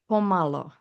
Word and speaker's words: pomalo: It's pomlo. So it's spelled P O M A L O and it means malo means little and pomalo means it's an adverb.